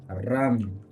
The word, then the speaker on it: रम: चक्र भी कहते हैं, जिसका बीज मंत्र का उच्चारण होता है रम।